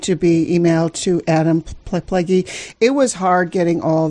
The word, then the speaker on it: Plagge: Pleggy is spelled Plagge, but, again, that's a cooperative effort